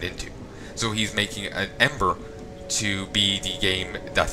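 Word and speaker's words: Em8er: Oh, also as a slight note, I will be doing Ember when it comes out. It's EM-8ER. I'm just pronounced it Ember.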